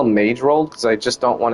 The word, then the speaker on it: Magerold: Magerold with an M, mage, like mage rolled, but it's pronounced Magerold.